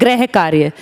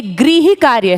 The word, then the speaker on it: गृह: इसको 99% लोग बोलते हैं गृह कार्य। ये गृह कार्य नहीं है बच्चों, ये गृह कार्य है। इसको री की तरह प्रोनाउंस करना है। गृह कार्य तो फिर वो वाले ग्रह हो गए, प्लैनेट वाले।